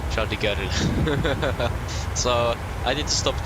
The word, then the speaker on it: Charles de Gaulle: Again, I think I pronounced it incorrectly. I don't think it is an R in there. Charles de Gaulle.